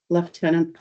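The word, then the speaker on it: lieutenant: uh Wendy cam uh leftenant Governor British Columbia uh response to uh congratulation letter for information only yes just a comment thank you for pronouncing left tenant the Canadian one thank you oh most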